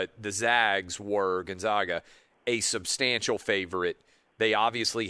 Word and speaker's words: Gonzaga: yeah i understand but most people just say gonzaga like the zags it's not the zogs it's the zags gonzaga